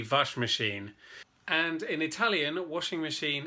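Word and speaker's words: Waschmaschine: hard d wash machine mostly w pronounce my B's in German d vash machine and in Italian washing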